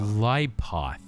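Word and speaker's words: Qliphoth: Clypoth.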